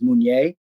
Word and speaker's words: Mounier: The French pronunciation of his last name is Mounier, so it's just an